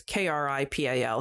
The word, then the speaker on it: Kripal: the documentary, they interviewed, I don't know if I'm going to pronounce his name right, Jeffrey Kripal, who has written, it's Kripal.